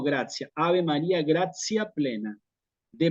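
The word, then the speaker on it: gratia: Entonces, si aparece una vocal después de la I y la A, esa palabra la paso a pronunciar como gracia.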